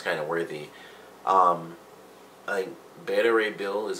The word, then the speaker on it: Beta Ray Bill: is Captain America's kind of worthy um a beta ray bill is how you pronounce his name I knew he'd done it